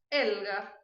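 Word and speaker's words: Helga: Elga. O H nunca tem som. O E é fechado. O L vai para trás. El. E o G é igual ao português.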